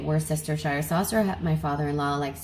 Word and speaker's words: Worcestershire: to correctly pronounce this I hear people say Worcester but I feel like that completely neglects an entire syllable so I just say it how I see it were sister Shire saucer that my father-in-law